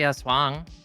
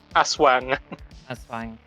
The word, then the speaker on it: aswang: Oh yeah, they have the Aswang. They have that. It's Aswang. Aswang.